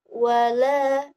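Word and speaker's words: وَلَا: Cara membacanya adalah dengan panjang 2 harokat.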